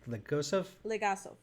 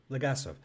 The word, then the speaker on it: Legasov: Legosov? Legasov.